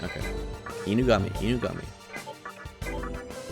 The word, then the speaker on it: Inugami: Inugami.